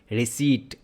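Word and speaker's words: receipt: यहां पे P silent होता है। तो कैसे पढ़ेंगे आप? रिसीप्ट नॉट रिसीप्ट। रिसीप्ट क्या है? गलत प्रोनंसिएशन है। Okay? So you will say रिसीप्ट।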